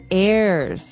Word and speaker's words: heir: pod, and to his heirs. This is our next word. What is an heir? Now, if you notice, the H is silent there.